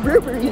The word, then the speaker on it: Burberry: It's actually pronounced Burberry.